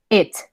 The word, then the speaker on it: it: Ahora viene la I del golpecito en el estómago. Entonces, si se dan cuenta, estas tienen que abrir un poquito más la boca para que sea como más exagerada. It.